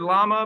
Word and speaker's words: lama: it in the chat so the animal here double l ama is the animal right but we're talking about l-a-m-a llama it's actually a tibetan word so it sounds a lot like the